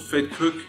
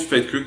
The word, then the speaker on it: Vetkoek: looking at south african street food it's called fed cook this is what they look like okay so it's called fake cook this is how you spell it and pronounce